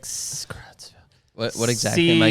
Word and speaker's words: Creutzfeldt: It's like Creutzfeldt. What exactly am I C- Googling? Creutzfeldt-Jakob. It's like CRUTZFELD. Like sauerkraut.